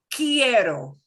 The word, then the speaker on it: quiero: Quiero. Quiero. Quiero. Quiero. So you're seeing Quiero. we ignore the U. We don't pronounce the U. If it's QUE or QUI, we ignore that.